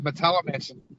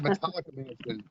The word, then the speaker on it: Metallimansion: Pronounced it correctly too. It's the Metallimansion. People call it the Metallica Mansion.